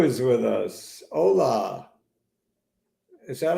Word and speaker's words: hola: 2 is with us hola is that how you spell hola I guess so um it certainly is is a silent h Silent Age I think